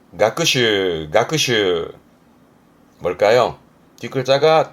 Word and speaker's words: 学習: 발음은 가크슈, 가크슈.